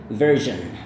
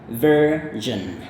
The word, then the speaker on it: version: Jadi dia pakai jen, kayak gitu. Maka ini bagian akhir ini bunyinya sama. Jadi version. Alright, once again, version.